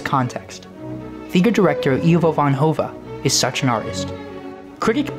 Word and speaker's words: Hove: Ivo Van Hove, yes, pronounced like that, Hove, has dominated the world theater scene, with productions